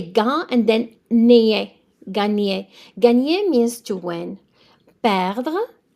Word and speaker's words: gagner: So the second G is silent. Gagner. So you say gain and then nier. Gagner.